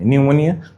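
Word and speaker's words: pneumonia: প্রত্যেকে লিখে ফেলো tsunami T tsunami, tsunami T tsunami, tsunami T tsunami, নিউমোনিয়া পি নিউমোনিয়া, psychology পিসাই চলো যাই, নিউমোনিক এম নিউমোনিক।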